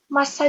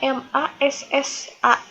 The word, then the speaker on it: massa: Massa jenis ini artinya adalah berat, maknanya adalah berat. Ditulisnya MASSA. Dibacanya biasa saja, dibacanya nggak jadi massa, nggak jadi seperti itu, dibacanya biasa aja massa jenis.